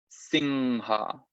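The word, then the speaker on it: siṃha: Entonces aquí hay una M con un puntito arriba. Eso es anuswara, un sonido específico del sánscrito, que se pronuncia nasalizando la vocal anterior. Entonces en este caso, esa I se va a convertir en una ing, singha. ¿Sí? La H, recuerden que se pronuncia en el sánscrito y es como una suave.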